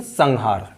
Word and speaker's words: संहार: यानी हा जो है वो कंठ से बोला जाता है, और कंठ से उच्चारित पंचम वर्ण ङा है, तो इसीलिए यहाँ संहार बोलते हैं, संहार या संहार नहीं बोलते, संहार सही उच्चारण है, संहार।